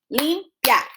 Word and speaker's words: limpiar: When you have a combination of a weak and a strong vowel, they stay in the same syllable, limpiar.